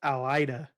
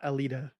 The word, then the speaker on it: Alida: Uh it is pronounced Alida, not Alita. Alida.